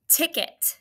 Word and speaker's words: ticket: Two syllables. Tick it. And be careful of the schwa. Go ahead and try it. All right, hopefully you got tick, the first syllable, right? Because it's multisyllabic. T-I-C-K for tick. It. It sounds like it could be I-T, but do you remember? Right, it's E-T.